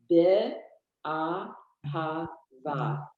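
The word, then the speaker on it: באהבה: Yeah, no, I know that, but can you just pronounce the first word? Sure. Be a ha va.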